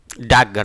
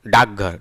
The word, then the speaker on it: डाकघर: डाकघर, जब जल्दी से लोग डाकघर करते हैं तो स्वर का लोप कर देते हैं और क की जगह ग बोल देते हैं, डाकघर, डाकघर ना।